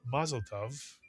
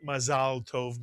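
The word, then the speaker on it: מזל טוב: word tov to it, as in the phrase mazal tov, in Yiddish, mazel tov. But mazal tov means good luck, but it's used as an idiom for congratulations.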